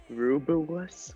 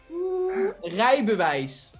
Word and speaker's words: Rijbewijs: Rubewas? What? Rijbewijs. Oh my god, really? Oh god, that I pronounced that horribly.